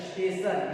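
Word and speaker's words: station: हम लोग क्या पढ़ेंगे इसको हम लोग पढ़ेंगे श पढ़ेंगे, क्या पढ़ेंगे श। स्टेशन, स्टेशन मींस क्या होता है स्टेशन, स्टेशन मींस क्या होता है स्टेशन।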